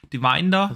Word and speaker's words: Devinder: How do you pronounce that? Divinder? Devinder, yeah.